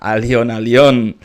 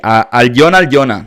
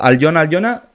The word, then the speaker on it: Alyona: Y atención porque aquí llega la rapera Allion. Perdón, no se pronuncia así. Aljona, me imagino que se pronuncia.